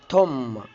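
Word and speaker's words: tomb: برضو حرف البي لو جه قبليه حرف الام البي لا ينطق، زي كلمة كوم. كلمة كوم يعني مشط. توم يعني مقبرة.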